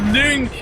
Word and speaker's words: Link: It's pronounced Link, god damn it.